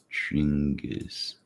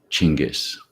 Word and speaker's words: Genghis: that here we go chingus yeah okay jen similar this is kind of interesting right chingus so apparently it was the italian pronunciation that made it more like genghis genghis khan chingas khan